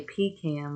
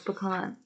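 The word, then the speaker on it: pecan: pean I don't know at least he didn't say Pam like some weirdos yeah I definitely do not even though I mean I do agree that's how it is spelled no it's pean that's silly but then it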